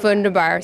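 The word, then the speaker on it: wunderbar: um how do you say uh vundabar vundar vundabar so there you have it uh I will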